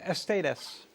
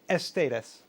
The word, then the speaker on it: Aesthedes: So we're back at the Aesthedes, and this time I'm pronouncing it the right way, apparently. Aesthedes is it called in English.